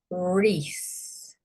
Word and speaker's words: wreath: Same here, wreath. So you've got the silent W there. It's followed by an R, you know that the W is silent.